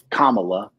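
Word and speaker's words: Kamala: actually didn't think um and Doc corrected me on the pronunciation it's kamla yeah is kamla right um because I kept calling her something else mispronouncing the name um I didn't think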